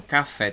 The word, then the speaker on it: café: Café tem duas sílabas. E café é oxítona.